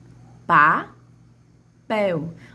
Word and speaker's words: papel: Papel. Papel. A sílaba que mais se estende, a sílaba de maior tonicidade é a pel.